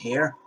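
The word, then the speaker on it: Haier: I think it's pronounced Hair, and they make small appliances.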